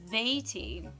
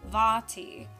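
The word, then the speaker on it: Vaati: do you pronounce v-a-a-t-i james says veity but i say vati i mean the long a double a you know like kazaa remember kazaa yeah that's fabulous question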